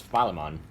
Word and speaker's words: Philemon: The actual way you pronounce his name is Philemon. Okay.